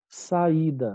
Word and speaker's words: saída: Saída é um hiato cuja segunda vogal I é tônica, tá? Seguida ou não de S, que não tem Z na mesma sílaba e nem NH na próxima sílaba. Então, por isso que saída é acentuado.